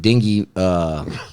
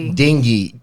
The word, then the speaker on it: dengue: But they said there's no meds for the dengue virus or viral Are you disease. pronouncing that right? That's dengue.